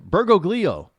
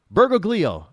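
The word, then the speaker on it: Bergoglio: Mario Berg uh bergo gleo why can't I pronounce his last name bergoo b e r g o g l i o bergoo I think I pronounced that correctly and then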